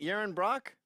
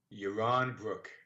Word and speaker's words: Yaron Brook: Yaron Brock? Yaron Brook. Yaron Brook.